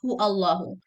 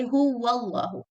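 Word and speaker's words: هُوَ اللَّهُ: your habits of pronunciation, and you pronounce hu Allahu. But that's wrong. Say hu wallahu, hu wallahu.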